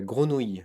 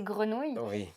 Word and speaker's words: grenouille: très dur de prononcer grenouille il y a écureuil truite aussi qui est tr c'est le R qui est très dur à prononcer pour les anglophones parfois c'est complètement oui